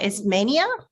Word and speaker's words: Ismania: Is Mania? Yes. Is that correct? The way I'm You did pronounce it correctly.